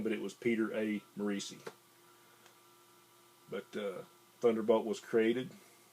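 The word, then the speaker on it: Morisi: actually created written and drawn by uh Pete macei now I thought the guy's name was Pete morsy but I watched a Charlton panel on YouTube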